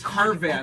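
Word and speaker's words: Harvath: It's Harvat, Okay. not Horvat.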